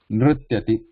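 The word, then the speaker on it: nṛtyati: Nrityati. This is first one in Ru, Yeah. and then the, after, and ya. This together pronounce them.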